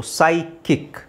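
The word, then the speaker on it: psychic: silent ಅಲ್ಲ okay ಅಂದ್ರೆ ಇಲ್ಲಿ ಸಿ ಎಚ್ ದು ಸೌಂಡ್ ಬಂದು ಕ ಅಂತ ನಾವು ಹೇಳಬೇಕು ಸೈಕಿಕ್ ಅದು ಅಲ್ಲದೆ ಇಲ್ಲಿ ಪಿ ಸೈಲೆಂಟ್ ಆಗುತ್ತೆ ಸೋ ಪಿ ಸೈಲೆಂಟ್ ಆಗುತ್ತೆ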